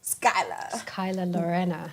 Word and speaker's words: Skylar Lorena: you're welcome era Skyla Skyla Lorenna guys you hear how she pronounces it Send me skyler.